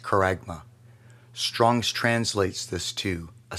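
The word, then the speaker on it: χάραγμα: the original text for the word Mark is pronounced karagma Strong's translates this to a stamp an imprinted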